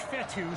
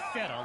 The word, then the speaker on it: Fetu: So Coach Fetu, spelled F-E-T-U. For the longest time, I was pronouncing it Coach Feta, like feta cheese.